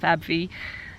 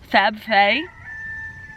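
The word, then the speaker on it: faverolle: If you are looking for jumbo meat maker or Fab Fay, I was pronouncing it wrong before, it's not Fab Fee, Fab Fay, then that's the fairy quail, by the way.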